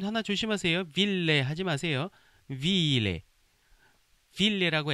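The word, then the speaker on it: ville: 빌레. 발음 하나 조심하세요. 빌레 하지 마세요.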